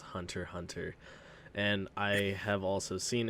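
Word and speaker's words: Hunter × Hunter: i have heard that it is actually pronounced hunter hunter and i have also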